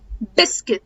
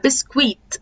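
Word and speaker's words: biscuit: بقولش يعني يو هنا بسكت عشان في ناس كتير بتقولها بسكويت لا بسك بسكت تمام الدبليو رجعنا للدبليو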